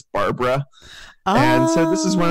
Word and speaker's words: Barbara: And it took me a few days to realize that Chileans pronounce their B's a lot like V's. And so her name wasn't Varvala, it was Barbara.